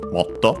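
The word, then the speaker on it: もっと: More, even more, accented on the first syllable, so motto.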